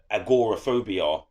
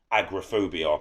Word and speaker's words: agoraphobia: call it in america agoraphobia which we don't pronounce it that way in england we pronounce it agrophobia same thing obviously it's